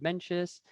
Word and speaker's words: Mencius: note before we go i will use the pinion method of spelling and pronunciation of mentions which is the m-e-n-c-i-u-s before we go on